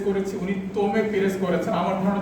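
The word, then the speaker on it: Tomé Pires: ওই প্রবন্ধে ওইটার উচ্চারণটা আমার অনুবাদে আর ওইখানে অনুবাদে নামের মধ্যে একটা আছে, কারণ হচ্ছে আমি টম পেরেস করেছি, উনি তোমে পেরেস করেছেন। আমার ধারণা যে উনি শুদ্ধ পর্তুগিজ উচ্চারণ, তো ফলে আমি ইন্টারনেট দেখে, ইউটিউব দেখে উচ্চারণটা করেছি।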